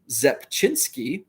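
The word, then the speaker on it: Rzepczynski: a row in his victory over the yankees pronounced zepchinsky there you go fan nine and five innings so mark zepchinsky blue sapphire number to 60.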